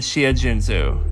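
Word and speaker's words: Xia Junsu: Ever wonder what an X sounds like? Well, it's an sh sound, not an X sound. Shumin and Shia Junzu.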